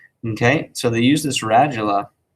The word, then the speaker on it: radula: it r a j this is a long a ra ju okay it's not ratala or radula um radula this is what helps